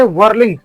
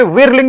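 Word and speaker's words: whirling: word है वो है वर्लिंग वर्लिंग ये विरलिंग नहीं बल्कि वर्लिंग बोला जाता है क्योंकि इसमें जो आई है वो एक ही प्रोनाउंसिएशन देता है वर्लिंग वर्लिंग मींस स्पिनिंग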